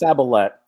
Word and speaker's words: Saballette: It's Saballette. It's French, and it's not as scary as it looks.